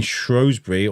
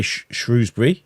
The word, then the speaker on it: Shrewsbury: you if you if you're around someone saying shury all your life you're going to say shury it's a language thing I think it's who's around you so if you grew up in a family say Shrewsbury you're going to say Shrewsbury or if they